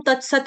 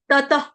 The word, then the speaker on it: ततः: जो विसर्ग है विसर्ग का उच्चारण हम करेंगे हलंत फ के साथ। ततः पदंत।